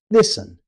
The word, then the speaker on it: listen: Listen. You may see the T, but you won't hear it. Native speakers simply say listen.